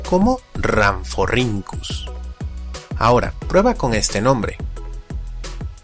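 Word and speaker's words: Rhamphorhynchus: Por ejemplo, tenemos a que se lee como Rhynchosaurus, o al complicado, que se pronuncia como Ramphorhynchus.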